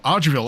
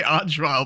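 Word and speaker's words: Arch-vile: That's what I used to call them before I realized how everyone was supposed to pronounce them. I used to call them arils cuz I'd never heard anyone say archile before God.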